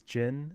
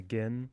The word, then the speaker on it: GHIN: up and I guess the way to pronounce g h i n is jin. And um but somebody wanted to flip it to gin because it makes more sense with the h there.